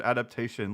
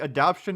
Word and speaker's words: adaptation: I I I how how is he a writer and he doesn't know how the how to say the word adaptation? Like adaption is something entirely different.